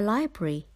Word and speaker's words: library: I be aa why don't forget the first R should be pronounced two or together there